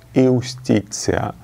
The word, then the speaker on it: Iustitia: There is written Ivstitia, and it's pronounced Iustitia.